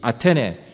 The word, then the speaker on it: 아테네: 우리가 영어식 발음으로 아덴이라고 기록된이 아테네 아 아테네 사람들에게 바울이 복음을 전합니다.